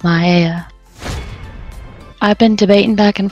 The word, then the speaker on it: Mayeia: profile well of course it's going to be maya and for those of you cannot spell it is m-a-y-e-i-a but it's pronounced maya i've been debating back